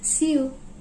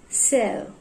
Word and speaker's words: sew: If you're pronouncing this as chew, then it's wrong, and this as sew, then it's wrong. Here we go, the correct pronunciation of these words.